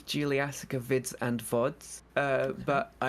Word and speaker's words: Juliassacre: Juliassacre.